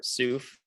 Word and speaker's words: SSOF: So to perform this joint modeling, we built stellar spectra observation fitting, SSOF, or SOOF, kind of pronounced like souffle.